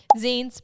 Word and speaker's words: zines: Zines, pronounced zines, credit their origin to